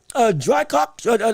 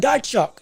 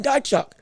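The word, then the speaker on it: Dychko: It's going to be, unless it's a robbery of the, like we saw with Jermaine Franklin beating Drycock, what's his name?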